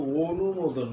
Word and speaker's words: অনুমোদন: বলি না, আমরা কিন্তু অনুমোদন বলি, এখানে অটা ও হয়ে যায়।